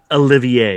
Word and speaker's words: Olivier: yeah i never seen that same movie lawrence oliver is nominated for best actor olivier olivier sorry uh peter o'toole the ruling class